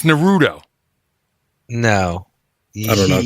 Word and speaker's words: Naruto: How do you pronounce it? That sounds right. It's Naruto.